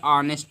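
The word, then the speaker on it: honest: है सिर्फ इसमें देखो इसको हम ऑनेस्ट में हा नहीं पढ़ते हैं साइलेंट राहत है ऑनेस्ट पढ़ने हैं क्या पढ़ने हैं ऑनेस्ट इसी प्रकार से यहां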